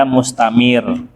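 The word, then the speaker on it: مستمر: Kalau dia sukun biasa datar aja mustamir. Kalau ada tasdid diangkat mustamir kayak gitu.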